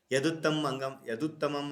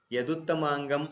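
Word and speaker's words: यदुत्तमाङ्गम्: Okay, it is current pronunciation wrong. Okay, sorry. Yaduttamam Anganam Yaduttamangam Anganam. Again, wrong pronunciation. Now I will pronounce it correctly. Yaduttamangam Anganam Shirastad Abhidiyate.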